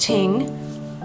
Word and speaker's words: thing: Such gatherings were called it's spelled thing, but I think it's pronounced ting.